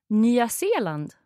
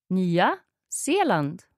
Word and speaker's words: Nya Zeeland: Yeah, so we would pronounce every vowel. Mm-hmm. So Australian. Australian. Bra. Okay. And New Zealand? Nya Zeeland. Again? Nya Zeeland.